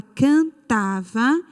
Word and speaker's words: cantava: No caso aqui, a palavra cantava, a sílaba tônica é tá. Então, como é que a gente classifica esta palavra? Como sendo paroxítona, ok? Paroxítona, porque a sílaba forte é a penúltima sílaba.